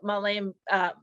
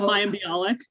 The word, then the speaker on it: Mayim Bialik: to have something about my Jewish identity, like Malaim I'm saying her name wrong. The gal who is the Jeopardy. Oh, Mayim Bialik.